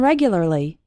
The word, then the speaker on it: regularly: And regularly has 4 syllables, regularly. That's quite a difficult word, regularly.